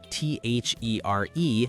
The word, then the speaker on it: there: These three words sound completely identical, but they mean totally different things and are spelled differently.